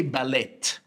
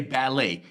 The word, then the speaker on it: ballet: So there's a T here, but we don't say ballet. We say ballet. Why? Because this word again is not English. It's French again.